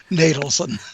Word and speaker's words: Natelson: That's one of the best introductions I've ever gotten, except the name is pronounced Natelson.